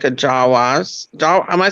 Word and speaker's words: Jawa: Well, no, it kind of looks like a Jawas. Am I saying it right, Sandy? Like Jawas, yeah.